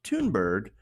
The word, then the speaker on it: Thunberg: a garbage person also her last name is pronounced tune bird so in addition to